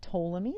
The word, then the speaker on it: Ptolemy: Then we get in the 2nd century AD, we get Ptolemy, that P is silent, and Ptolemy says that,